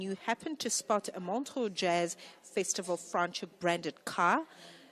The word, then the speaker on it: Montreux: Like as in the French Montreux, okay?